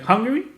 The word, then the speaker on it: Hungary: pronounce hungary well haha like hungary i mean it's just hungry right how are you gonna